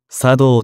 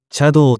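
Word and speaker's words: 茶道: 目玉よりも小さい一般的にお茶に道と書いて作道と読むが江戸時代まではチャドと呼んでいた樽の中で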